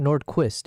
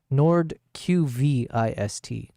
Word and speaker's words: Nordqvist: Because it's not Nordquist, it's Nordqvist. Nordqvist.